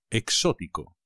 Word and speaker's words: exótico: cansado exhausto exótico coconut exótico cuidado con el acento exótico me gusta mucho